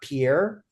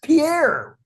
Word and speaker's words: Pierre: Like the first time I ever learned that the capital of South Dakota is Pierre, not Pierre. I thought, you guys are nuts. It's Pierre.